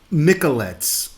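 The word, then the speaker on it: Mikeladze: She did her research and she found out that the Georgian mystery man that's in the uh Epstein list is um Zurab Miklettes. That's spelled Z U R A B capital M I K E L A D Z E.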